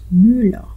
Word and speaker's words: Müller: Pag ER yan, automatically O na ang pronunciation.